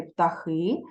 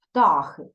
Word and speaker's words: птахи: правильне наголошення слів птахи правильно казати птахи але в нашому віршику сьогоднішньому письменниця використала наголос птахи А сам автор може змінювати наголос в своїх віршах так щоб було йому зручно співзвучно з іншими словами тому можна сказати птахи можна сказати птахи дихаємо